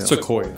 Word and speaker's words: sequoia: And we, or am I saying it right? Soya? Sequoia. Sequoia, yeah.